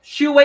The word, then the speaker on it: Su-wei: right is it Hsieh su-wei well actually um she way is like her name yeah she way and Shay is her family name we always say the